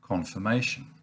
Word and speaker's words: confirmation: there's also the word confirmation now in this case it's the ir which is pronounced as a schwa and that's pretty unusual